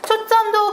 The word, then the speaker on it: 초점: 초점도 그거인 거죠. 한자 플러스 한자에는 사이시옷을 넣지 않는다. 발음은 초점 이렇게 된 소리가 나지만요. 표기를 할 땐 초점 이렇게 사용해야 된다.